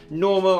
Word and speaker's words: NNormal: this shoe out from normal I'm pretty sure that's what you meant to say the first n is silent and then the edowa